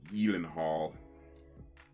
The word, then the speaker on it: Gyllenhaal: Jake Gyllenhaal. I think that's how it's properly pronounced.